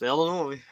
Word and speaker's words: Illinois: like this sometimes I I say Illinois yeah it's spelled that way you would think it certainly should be but that's Illinois yeah Illinois take a look